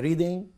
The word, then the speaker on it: reading: كلمة G, أي كلمة بتنتهي بING ما بنطقش الجي أصلا, فهقولها كده Reading, Reading اسمها Nasal Sound, Reading Text.